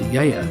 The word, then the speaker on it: Gaia: Now tonight's wine comes from Gaia Wines, that's pronounced Yaya in Greek, and two winemakers, a father-daughter team called Yanis and Leto.